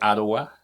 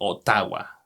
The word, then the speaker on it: Ottawa: When we say Ottawa, for us in Spanish it is Ottawa. Right. Because we see the double T, so we may say Ottawa.